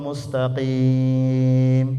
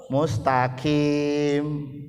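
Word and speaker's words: مستقيم: Kemudian ketika baca tadi ihdinas siratal mustaqim pakai qaf. Ihdinas siratal mustaqim, tunjukkanlah kami jalan yang lurus. Lah kita ini bacanya kalau enggak belajar tahsin, bacanya insyaallah ihdinas siratal mustaqim pakai kaf.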